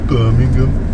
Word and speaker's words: Birmingham: How do I say it properly? With the really thick accent, you've got to do it, sure. Birmingham.